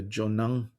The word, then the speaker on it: Jonang: from across traditions what is jonongpa can you spell that word j-o-n-a-n-g jo nang is a lineage of tibetan buddhism